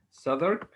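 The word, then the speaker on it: Southwark: our assembly our group in this company in southern this is how this uh town its name is pronounced souther at that high class history known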